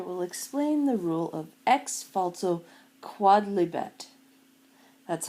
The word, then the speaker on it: Ex Falso Quodlibet: this lecture will explain the rule of X falto quad liet that's how it's pronounced it's it's quad not quoe like it